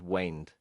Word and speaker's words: wind: said ben said a road can wind like that so the pronunciation is wind there's a song by the beatles the long and winding road where in the room